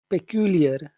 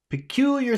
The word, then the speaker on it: peculiar: that's right yes and which syllable do you think we should pronounce in a big way kear q q q q yeah peculiar smell peculiar smell peculiar